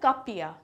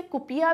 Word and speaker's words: Kuppia: Basically इस पहनावे को कहा जाता है कपिया, KUPPIA। हिंदी में इसे कुपिया भी कहते हैं, लेकिन ये इसका सही प्रोनाउंसिएशन है कपिया।